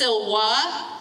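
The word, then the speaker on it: silva: So it's Silwa, Silwai.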